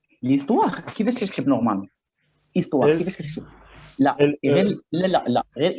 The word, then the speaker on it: histoire: Le H de histoire s'appelle le H muet.